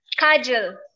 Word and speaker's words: Kajel: Oh, by the way, how do you pronounce your name, your first name? Kajel.